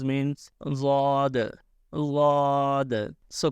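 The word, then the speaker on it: ضاد: Okay, I'll try to say Dwad. You can say Dwad. Sides of tongue and roots of upper molar right there.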